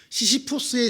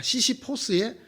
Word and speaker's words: 시시포스: 시시푸스의 신화라는 게 있죠. 옛날에는 이게 시시푸스의 신화라 그랬는데 이제 자꾸 발음이 미국식으로 되다가 보니까 시시포스의 신화라 이렇게 말하는데, 이 신화의 주인공인 시시푸스가 죽음의 신을 속이죠.